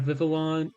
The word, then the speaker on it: Vivillon: I have Vivillon.